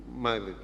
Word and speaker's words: Mile: It's more or less like this, the pronunciation, Mile.